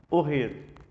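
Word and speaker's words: אֹהֶל: Então, como que é tenda em hebraico? Ohel. Ohel. Não é ohel. Não é ohel. Se você estiver pronunciando ohel, tá errado.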